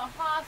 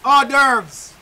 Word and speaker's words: hors d'oeuvres: Then I ask this right here, so horse. Hors d'oeuvres. Hors d'oeuvres. The word is hors d'oeuvres. Me can't pronounce them right there, them not a fried chicken.